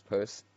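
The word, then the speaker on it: Peirce: the 19th century who's his name is Charles purse his surname is spelt Pei RCE the kept a dictionary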